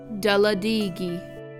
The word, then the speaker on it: Talladega: This is how they are pronounced in the Muskogee language. Obalega, Suliagaga, Daladigi, Daskigi, Eufaula, Istiaboga.